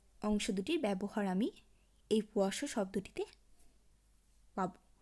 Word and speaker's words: poisson: যেমন POISSON, এই পাশাপাশি অবস্থিত দুটি এসের অংশটি উচ্চারণ হবে স এর ন্যায়। পোয়াসো।